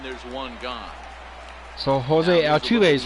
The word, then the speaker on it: Altuve: So Jose Altuve is how you pronounce his name.